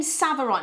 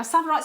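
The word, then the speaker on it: Tsavorite: Now, Savarite spelled with a T. It sounds weird, doesn't it? But Savarite, yeah, which is a national park now, actually, out in Kenya. Savarite with a T at the beginning.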